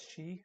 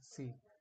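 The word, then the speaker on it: し: the English language so it's pronounced as she not C and how to remember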